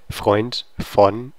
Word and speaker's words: Freund: And you have the articulated R, because if you have FR, you really do have to pronounce the R sound. You can't skip it, or it's too important to the word. And then you have the EU for oi, Freund, Freund.